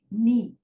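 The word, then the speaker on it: knee: नी। तो यहाँ पे के, फिर से एक बार के की वैल्यू 1 है, लेकिन यहाँ पे के साइलेंट है।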